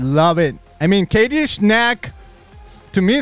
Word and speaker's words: Schnack: if there's a ch i would be saying the ch like i'm not making it silent so it's snack snack i love it and you